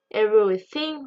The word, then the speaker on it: everything: Attention à la prononciation. Dans le mot everything, il y a le son TH. Le son TH, on va souvent le retrouver dans beaucoup de mots. D'accord? Donc, attention à bien le prononcer.